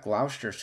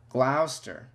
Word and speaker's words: Gloucester: rang the bbc a few months later at gloucester's cathedral oh gosh oh man rochester if it's